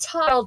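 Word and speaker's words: Tadhg: It's pronounced Tile, T-A-D-H-G. T-A-D-H-G. Yes.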